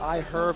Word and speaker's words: iHerb: I am told that I had supposed to pronounce that I herb emphasizing Dom and then of course folks at